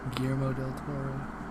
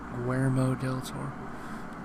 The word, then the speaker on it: Guillermo del Toro: gotta say, He still says his name wrong. He says it wrong like a couple weeks ago. I forget who the fuck he was talking to. It's Guillermo del Toro.